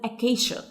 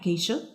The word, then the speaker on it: acacia: And it's called acacia. هي ليه احنا قلناها acacia؟ في معظم الكلمات letter C لما بيكون بعده I بتتنطق ش زي كلمة special مثلا. Okay, so this is acacia.